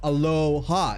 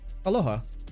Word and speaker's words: aloha: it's not a law it's not a long a long uh saying of like aloha it's not that long it's just aloha and that that's yeah